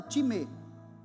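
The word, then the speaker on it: τιμή: A palavra honra no grego significa time, se escreve time, como time de futebol, mas se fala time.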